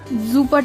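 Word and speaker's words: super: या फिर सेपरेट जुपर इसका स्पेलिंग इंग्लिश जैसा ही है सुपर पर प्रोनाउंस इसको जुपर करके बोलते जुपर टॉल गुड ड ज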